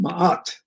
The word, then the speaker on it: Ma'at: Ma'at, pronounced Ma'at, corresponds to the faculty deity within man, wherein is intuited and experienced the urge to live truth.